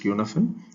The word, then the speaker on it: Cynefin: part five i am going to deal with qnfin framework for decision making so it has to be pronounced as qnaphan is a welsh word that translates as place